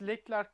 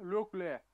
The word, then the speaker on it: Leclerc: Charles Leclerc değil, Charles Leclerc diye okunuyor.